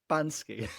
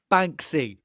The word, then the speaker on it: Banksy: And how did you just pronounce his name? Bansky. Banksy. Sorry. Banksy. It's Yeah, okay.